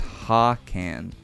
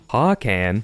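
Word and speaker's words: Hakann: Now we move on to Hakan or is it Han? It's Han. Hawan. Hawan. Han.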